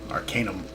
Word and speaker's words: Arcanum: wizard back and notice I did pronounce it Arcanum I did have a comment that I was mispronouncing it by saying Arcanum tomato tomato so I'll try to remember to pronounce it being that the prefix is pronounced arcane we're just adding a um at the end Arcanum anyways that's neither here